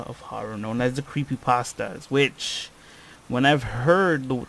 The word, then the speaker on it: creepypasta: So, the term creepypasta, pronounced like noodle, is a pun off